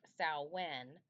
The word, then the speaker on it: Samhain: Samhain, pronounced Samhain, but spelled Samhain, is the holiday that ancient Celts celebrated on October 31st into November 1st.